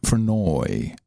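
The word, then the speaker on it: Vernooij: The I and the J is pronounced as a Y or in combination with the two O's for oi, Vernoy.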